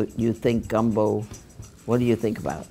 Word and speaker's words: gumbo: The name gumbo comes from a West African word for okra, pronounced ng gumbo, or in a shortened form, gumbo.